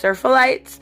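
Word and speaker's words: Seraphites: And then we do get a little bit more insight when it comes to the Scars, I believe it is pronounced Serphalites, who are the religious zealots, and at one point they are described as freeing somebody, which is, killing them.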